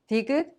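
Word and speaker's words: 디귿: And Digut has the soft T sound somewhere in the middle of T sound and the D sound.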